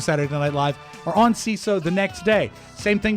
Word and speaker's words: Seeso: But more about CISO. CISO is comedy for comedy nerds by comedy nerds. It's spelled SEESO.